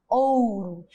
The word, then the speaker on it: ouro: Na palavra ouro, o O da sílaba tônica, ou seja, o que tem um som mais forte, ou tem um som de O, ou, ouro. Enquanto o O da sílaba átona, uró, tem um som de U, virou ouro.